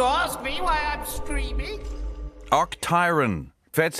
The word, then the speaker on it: Octiron: can't see you ask me why I'm screaming OCT tyon that's how you say it but uh how